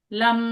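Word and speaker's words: लं: और उच्चारण रहता है लम लम।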